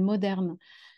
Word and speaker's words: MDRN: a un groupe qui s'appelle moderne alors ça s'écrit juste avec les consonnes mdrn en Belgique qui travaille